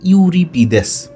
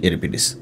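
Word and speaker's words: Euripides: লেখার মত করে করি ইউরিপিদেস এরকম মূলত সঠিক উচ্চারণ হচ্ছে ইউরোপিডিস যাই হোক তাহলে আমরা তিনজনের নাম জানলাম সোফোক্লেস ইউরোপিডিস আখিলিস লিভ ব্যাটলফিল্ড আখিলিস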